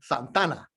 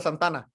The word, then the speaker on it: Santa Ana: santana the guitars right so they'll smash together santa ana into one santana right you say in spanish because when you say santa ana in spanish it's santa ana but when you start speaking spanish it's like oh i'm santana right so in spanish you kind of make it one word so the locals take